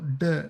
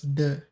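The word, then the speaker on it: deux: pronunciation goes uh so duh and this x goes silent. So you just read it as duh.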